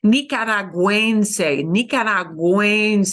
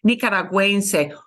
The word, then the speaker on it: nicaragüense: here, because we do want you to pronounce the U, it's not silent here. We put that little double dot. It's called the diéresis. In German, it's called umlaut, but in Spanish, it's called diéresis. Nicaragüense. It sounds like a whoa, a W, right?